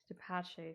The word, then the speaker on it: DePace: It's spelled Depace, but it's obviously pronounced the Italian-ish way.